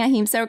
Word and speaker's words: ahimsa: CEO of ahimsa home is that am I pronouncing ahimsa correctly uh it's ahimsa I knew it that's